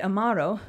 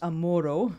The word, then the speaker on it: Amaro: The tour guide, Amaro, whose name, when mispronounced Amoro, means lover, mentioned to me in passing that Louise thinks of me often.